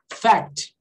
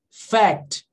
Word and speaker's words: fact: Fact, ok? Myth, alterar aqui, ó. Myth or fact, ok? Esse C aqui, ele é quase mudo, tá?